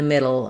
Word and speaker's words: middle: Instead, I'm going to use a flap, which we use for T and D in the middle of words for many words. So just when I said now middle, that's going to have the same sound as battle or bottle.